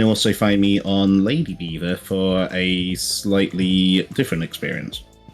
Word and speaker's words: Belvoir: You can find us over on Twitch at Lord's Beaver, and it's spelled weird. It's Belvoir, because bloody Normans with their freaky spelling.